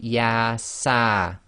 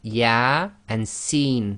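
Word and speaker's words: يس: with these single letters they effectively are pronounced as the name of the alphabet not the sound so here you cannot say yeah sir it would be yeah and seen so that's both the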